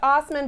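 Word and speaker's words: Assman: stop he said that it is derived from the German and so it's pronounced Osmond but it is in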